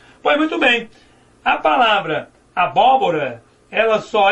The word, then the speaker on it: abóbora: Abóbora só é acentuado por quê? Porque eu tenho Rá, Bó, qual é a sílaba tônica? O primeiro Bó, última, penúltima, antepenúltima. Quando a sílaba tônica for a antepenúltima, ou seja, a sílaba que pode ser prolongada for a antepenúltima, então a palavra ela é proparoxítona.